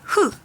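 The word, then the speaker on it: ㅎ: So 2 left to right and a big circle, and it's pronounced as hu, hu, hu, hu, hu.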